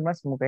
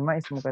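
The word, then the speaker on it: ما اسمك: Jadi kayak ini ya, kayak itu masma ismuka, yang benar itu masmuka ya, sama masmuka, langsung baca masmuka, bukan ma ismuka tapi masmuka, siapa namamu.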